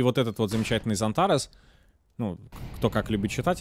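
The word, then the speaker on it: Xantares: Иногда забиваю, читаю Ксантарес, опять же. Зонтарес мне нравится, как звучит. По факту это и правильно так произносить, по-хорошему.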